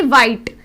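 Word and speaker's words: white: वेन में WEN, वेन की आवाज आ रही है, इसमें जो H है वो हमारा साइलेंट है। ऐसे ही वाइट, वाइट में भी जो H है वो साइलेंट है क्योंकि W के बाद H आया हुआ है।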